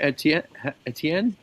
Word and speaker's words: Etienne: Etienne. Correct. You named it Lefty. Etien. It's uh it's it's French. It's French for Steven.